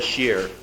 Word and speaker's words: Shear: months back Toastmaster Roy Shear the man whose name rhymes with beer threw a pile of